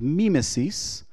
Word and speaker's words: mimesis: his poem is called mimesis Mima sees as you know or mimesis as some would pronounce it but in greek mimesis